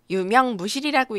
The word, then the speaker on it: 有名無實: 유명무실이라고 읽는 사자성어이고요.